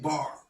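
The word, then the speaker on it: בר: And that consists of two consonants of the B and the R sound, and cannot be pronounced without a vowel in between them. So if you take the B and the R sound, you're going to get bar.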